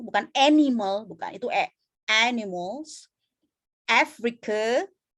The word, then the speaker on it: Africa: animal, bukan itu animals, Africa, bukan Afrika, bukan Afrika, itu A. Tapi bukan, kalau A itu adalah Afrika, kalau E adalah Afrika. But this one is Africa.